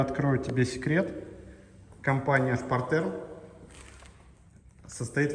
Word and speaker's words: Spartherm: Найди, пожалуйста, топку Шпартерм. Пишется Спартхерм. 3RLH.